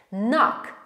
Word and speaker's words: knock: Knock. Knock. Wiemy, że tutaj widzimy k na początku, ale tego k nie wymawiamy. Mówimy knock.